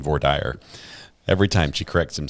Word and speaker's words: voir dire: She keeps pronouncing voir He's saying voir dire. Every time she corrects him, saying voir dire.